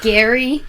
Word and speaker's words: Gerry: then he died and now we all mispronounce his name what a dick gary elbridge gary thanks elbridge um but